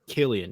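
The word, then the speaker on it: Cillian: i l l then d e d en Killian yeah he's right okay yeah don't don't be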